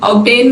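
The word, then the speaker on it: obtain: तो ये साइलेंट होगा लेकिन ये एक्सेप्शन है ऑब्टेन में बी को हम प्रोनाउंस करते हैं खोलने हैं इसको आईटी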